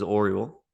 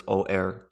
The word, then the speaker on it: Orual: Um, and so it's told from the point of view of the oldest daughter of the king, whose name is Oriel. So it's Orual.